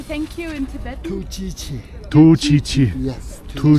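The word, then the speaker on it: ཐུགས་རྗེ་ཆེ: Tu chi chi.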